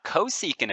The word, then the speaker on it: cosecant: 1 over the x coordinate then we have cosecant of t so that's how this one gets